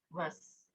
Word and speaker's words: was: Kalau mau nanya apa, namanya was. Jangan lupa kalau W bacanya kayak V ya, kayak huruf V gitu. Kalau apa, bacanya was.